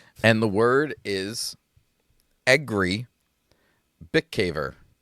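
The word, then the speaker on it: Bikavér: Bick caver.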